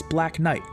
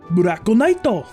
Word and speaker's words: Black Knight: She also regularly refers to the producer as Black Knight. Actually, let me pronounce that correctly. BURAKU KNIGHTO! Yeah, it just wouldn't be Japanese voice acting without a little Engrish.